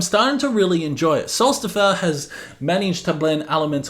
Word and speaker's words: Sólstafir: Sólstafir, that's how you pronounce it.